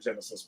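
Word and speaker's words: Genisys: genocise was the one it's pronounced her name Genesis but though they decide to spell it very strangely which is why I'm screwing around calling it genocide uh that was the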